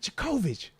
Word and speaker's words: Djokovic: She's like, Djokovic. Oh, my. So that's how you pronounce it.